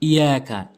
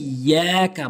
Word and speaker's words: إياك: মালিকি ইয়াউমিদ্দিন, এবার 4 নম্বর আয়াত, ইয়াকা, অনেকেই ভুল করে বলে ইয়াকা ইয়াকা, অর্থাৎ তাসদীদটি উচ্চারণ করেই না। এই ইয়াকা বলতে হবে, হামজা ইয়াজের এই ইয়া